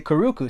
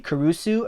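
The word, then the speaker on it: Curucu: years I was like do you think that that she that this would be kurusu or kuruku and she was like well a hard C uh actually a soft C would never come before a u so it's got to be kuruku and I was like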